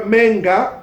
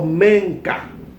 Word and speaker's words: menga: Here, menga, we've just told you that the K can be interchanged to J. So instead of say, you can say menga or menka. You got a choice.